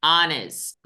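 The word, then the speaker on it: honest: mask and last है ऑनेस्ट क्या है आ ऑनेस्ट यहां एच को हम लोग नहीं पढ़ते हैं ठीक है अब जो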